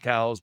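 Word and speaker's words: Coues: Technically, it is pronounced cows, but really I would say 90% of people call them cous deer.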